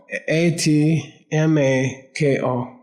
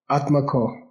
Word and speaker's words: atmako: A t m a k o. Atmako.